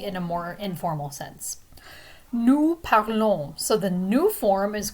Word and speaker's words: nous parlons: And notice again that the S is silent. The ON is a nasal sound. Nous parlons.